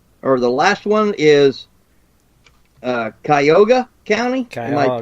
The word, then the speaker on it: Cuyahoga: And, let's see, the other one, or the last one is Cuyahoga County. Am I pronouncing this right? Cuyahoga. Mm-hmm. Cuyahoga. Cuyahoga, thank you, Shad.